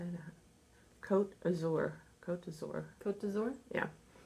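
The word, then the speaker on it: Côte d'Azur: Cote d'Azur.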